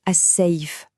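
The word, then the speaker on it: الصيف: Et ce mot, c'est as-saif, l'été. Celui-là, il est assez facile à prononcer, franchement. Le I, c'est exactement comme dans le mot paille.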